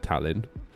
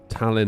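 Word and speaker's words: Tallinn: Heads up, Talon is pronounced by accentuating the A. Oh, that's interesting. cuz I said Talin first of all and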